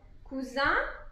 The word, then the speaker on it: cousin: Donc attention à la prononciation en général hein, pour cousin masculin ou masculin pluriel et cousine pour féminin ou féminin pluriel. Cousin, cousine.